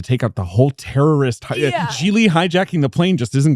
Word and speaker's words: Gigli: Note, the first G in Gigli is pronounced like the J in Jacques. The second G is silent, rhymes with really.